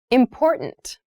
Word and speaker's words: important: pronunciation of this word that first t is actually reduced it sounds more like a d in fast speech water is important to